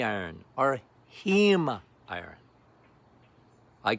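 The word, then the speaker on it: heme: But it's not hemi iron or hem iron.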